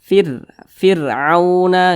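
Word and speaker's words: فرعون: bawah nih nah nih maka huruf rnya ini dibaca tipis firauna gitu firuna waanttum nah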